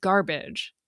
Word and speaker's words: garbage: In English, we say garbage, emphasis on gar, and hardly saying the sound in baj at all.